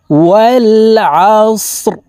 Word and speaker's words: والعصر: দেখুন, ওয়াল আসর, এই আইন হলকের মধ্যখান থেকে চাপ দিয়ে উচ্চারণ করতে হবে।